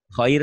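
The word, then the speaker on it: خير: Emang kho itu kan, mohon maaf, kalau di Jawa tuh umumnya kho tuh koir ya. Coba deh. Khoir tuh koir. Kalau go, dibacanya hoir. Nggak ngerti tuh. Kalau go kan harusnya goiril magdu, dibacanya khoiril magdu. Kalau kho, dibacanya koir. Ya.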